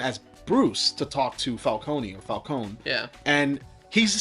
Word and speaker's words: Falcone: it's you know um falcone or falcone because in this movie they call them falcone even though if memory serves they've always pronounced the e in falcone but i guess potato